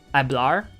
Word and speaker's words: hablar: for like at uh hablar i know that means to speak and it's h-a-b-l-a-r but uh because the h is silent i suppose it just